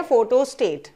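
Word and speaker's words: photostat: तो फोटोस्टेट जो वर्ड है, हम जो यहाँ पे इसको फोटोस्टेट बोलते हैं, ये गलत है, ये गलत है। बिकॉज इसका जो प्रोनाउंसिएशन है, सही प्रोनाउंसिएशन है इसका फोटोस्टैट।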